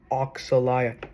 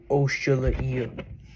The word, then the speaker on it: Oxalaia: And if if user Dino Guy ever comes across this video, it's pronounced Oxalia, not Oshula.